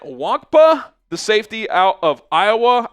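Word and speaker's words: Nwankwo: I think the end is silent. Wonka, the safety out of Iowa.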